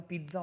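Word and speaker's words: pizza: आ गया तो मैं, पिज्ज़ा का स्पेलिंग भले ऐसा हो लेकिन पिज्ज़ा का प्रोनाउंसिएशन ऐसा होता है, पिज्ज़ा. टी होता है उसमें, बिकॉज ये इटालियन टर्म है, तो उसका प्रोनाउंसिएशन हम पिज्ज़ा करते हैं ज, बट उसका प्रोनाउंसिएशन पिज्ज़ा होता है. ट आता, टी आता है उसमें, पिज्ज़ा. इट्स नॉट पिज्ज़ा, इट्स पिज्ज़ा.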